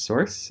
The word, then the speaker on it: src: Each module has a source directory, src, which we pronounce source, and that's where all the Java code goes.